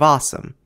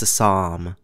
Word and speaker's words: Assam: Assamese is an awesome language in the awesome Indo-Aryan branch of Indo-European, and is spoken primarily in the awesome Indian state of Assam. Wait, what do you mean it's pronounced Assam?